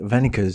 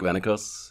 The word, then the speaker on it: Wennekers: to be here in Tel Aviv with Venus. Did I say it correctly? Yeah, that's correct. My name is Vanos.